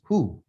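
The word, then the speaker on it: הוא: right and that's high the next one is who hey and then this right here is a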